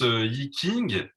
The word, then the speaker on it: Yi Jing: Alors je note que tu prononces Yiking. Moi, j'avais compris qu'on disait Yiting.